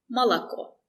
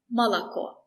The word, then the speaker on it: Молоко: If the letter O is not stressed, we usually pronounce it as A. Very short A. Молоко. Молоко.